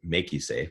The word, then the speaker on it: MakuSafe: Mak you actually maku Mak you is Hawaiian for risk so we we put a line over the a and pronounce it make you safe giving the a the long sound but it's actually kind